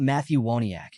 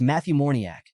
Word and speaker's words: Matthew Moriac: It's not Matthew Wiac. It's Matthew Moriac, a known con artist.